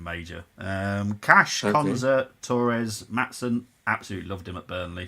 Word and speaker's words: Maatsen: Maatsen? Maatsen, yeah.